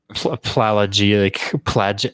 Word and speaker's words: pelagic: You seem to know a lot about water these days, soaking and always pelagic.